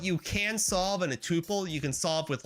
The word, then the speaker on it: tuple: my God that's a tuple oh or tupple I don't know how you say it I say Tuple I hate saying tupple it sounds like tupple Weare I don't pass around